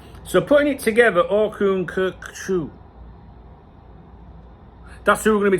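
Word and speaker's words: Orkun Kökçü: Cocku the the O is similar to the I in bird or the U in burn.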